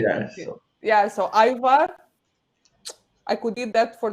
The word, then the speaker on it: ajvar: my life, would be ajvar. Ivar. This is how we say it in Ivar, but this is how we say it in Romanian. Ajvar.